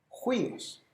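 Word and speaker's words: υἱός: Y la pronunciación del espíritu rudo es como una J en español, juíos.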